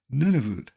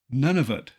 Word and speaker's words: Nunavut: eastern part was named Nunavut total population about 40,000 mostly Inuit nunut is frequently mispronounced none of it with that in mind